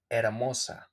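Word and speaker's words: hermosa: is amosa amosa okay remember the H in Spanish it don't have and in most of the cases it don't have any sound so we just read it directly like Oso okay not Heros Heros neutral modern modern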